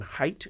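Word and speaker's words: Haidt: Jonathan, I think you pron pronounced his name height. It's like hi h ai dt I think it is.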